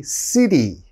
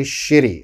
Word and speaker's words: city: have to be careful you have to say city city like seoul city busan city don't say shitty okay the foreigner the